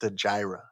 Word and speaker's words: Stagira: Future me here, it is pronounced Stagira.